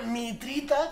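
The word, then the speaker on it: Mitriță: Y luego tenemos a este men que se llama Mitrita, con acento en la T por debajo, es maravilloso.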